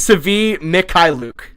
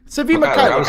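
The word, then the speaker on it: Svi Mykhailiuk: Yeah, okay, so Ricky has the pronunciation. So. Yeah, I was right on Svi. Yeah, it is Sevi Mikhailiuk. Sevi Mikhailiuk.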